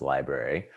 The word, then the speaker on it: LBRY: version of youtube called lbry which i assume is pronounced library and there you can store